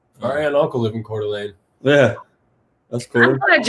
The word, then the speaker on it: Coeur d'Alene: and uncle live in coeur d'alene yeah that's cool i thought y'all knew how to pronounce that most people are like core d uh that's how i